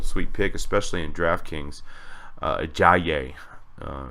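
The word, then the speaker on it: Ajayi: pic especially in draftkings I yay is how it's pronounced Jonathan stores probably be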